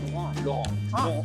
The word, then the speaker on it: Laurent: Laurent. Oh, Laurent. There's no T, man. There's no silent T.